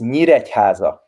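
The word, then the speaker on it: Nyíregyháza: big for me this word in hungarian says miracaza okay can you say that please try please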